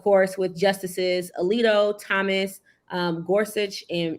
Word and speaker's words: Gorsuch: with justices Alito Thomas Gorsuch and is it Gorsuch or Gorsuch it's Gorsuch well some people pronounce it as suck but yeah it's Gorsuch and inherit all dissented